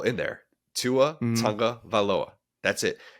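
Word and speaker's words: Tagovailoa: One of the guys says Tua Tunga Vailoa. I'm like, you're adding an extra syllable in there. Tua Tunga Vailoa.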